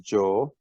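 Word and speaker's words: جو: This is simply pronounced as Joe.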